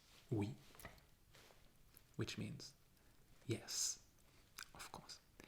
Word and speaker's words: oui: o u i o u i this is pronounced we and you can find that sound in words like we which means yes of course and also in